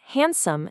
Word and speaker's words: handsome: Who actually pronounces that first D? Nobody. It's Wednesday. Same goes for handsome and sandwich. We say handsome and sandwich. The D just completely vanishes.